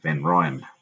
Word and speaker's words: van Rhyn: and rain on Australia we say then Ryan which is a bit annoying but that's how they pronounce it as you can